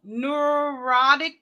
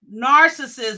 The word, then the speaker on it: neuroticism: So that's not narcissism. It's neuroticism.